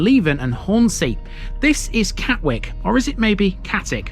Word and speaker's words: Catwick: four letters w-i-c-k and sometimes in the East Riding that's pronounced Wick in other cases it's ick it's omits the W